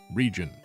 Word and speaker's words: Rijon: a new region called Rijon. And yes, that is the correct pronunciation according to its creator, Cool Boy Man.